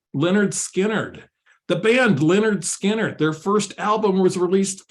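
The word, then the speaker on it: Lynyrd Skynyrd: have than to go whimsical and go pronounced Leonard Skard. The band Leonard Skinnard, their first album was released 50 years ago.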